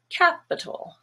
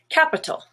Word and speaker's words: capital: vowel is black but the i and the a here are also schwa capital capital relative has a stress